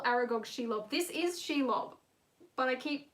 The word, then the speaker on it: Shelob: why did i call aragog shelob this is she love but i keep mispronouncing she love as aragog because i am